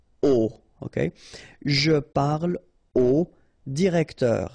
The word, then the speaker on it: au: You write it A-U, you pronounce it O, okay?